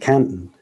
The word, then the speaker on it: Canton: There's a canton near Detroit, as it happens, pronounced Canton, which is why I didn't think about it for years.